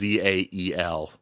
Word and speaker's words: Zahel: drifts a bit, and Michael Kramer kind of like leaves out the H. It's like Zahel Yeah. sometimes. Zahel. Yeah. That is a cooler Yeah, name. when I first listened to it, I thought it was just Zael. Yes, that's how I've been spelling it.